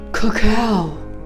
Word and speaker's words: cacao: Mona, I see and smell cacao. I just realized that rhymes with cow.